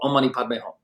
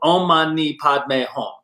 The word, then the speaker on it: Om Mani Padme Hum: For example, there's a lot of mantras, but one very popular one's called Om Mani Padme Hum. And What was that? Say that again. Exactly. 6 syllables. Om Mani Padme Hum.